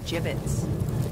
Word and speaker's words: gibbets: if we had some gibbets left over gibbets what it's pronounced jibbets are you sure well